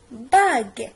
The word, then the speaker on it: bague: Donc G-U normalement c'est gu. Mais bagu. On dit une bague. La bague. حيت هاد le U وضعناه هنا pour ne pas prononcer bag. غير باش كنبدلو النطق ديال لو مو.